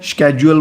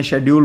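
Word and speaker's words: schedule: स्केेड्यूल बोलते हैं, शेड्यूल बोलते हैं जो भी आप प्रोनाउंस कर सकें।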